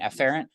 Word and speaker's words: efferent: What I will do in lecture, generally the pronunciation of these is afferent and efferent, which sound almost identical.